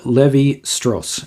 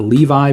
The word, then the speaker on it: Lévi-Strauss: So Claude Lévi-Strauss is how this is pronounced, not Levi, but it's Lévi.